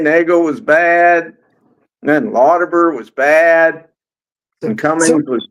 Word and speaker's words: Lauterbur: what it was like, they're for, is it Lauterbur? Is that how you say it? Frank Lauterbur, yeah.